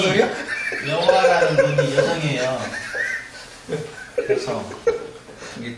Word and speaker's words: 여호와: 요 발음이 동양 발음이 서양 발음으로 가면 여와가 안 된대요. 혀가 구조가 안 돼. 여와가 한 번에 안 돼. 그래서 서양 발음 여가 호가 들어가야 와가 온다 해. 그래서 여호와 이렇게 부른다 해. 원래는 이게 없어 여와인데 여와.